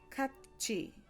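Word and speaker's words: 같이: When E follows these letters, the tiget turns into a jiet sound, and the tiet turns into a chiet sound. So that's why we get kachi, kachi, and kuti, kuchi, kuchi, kachi, kuti.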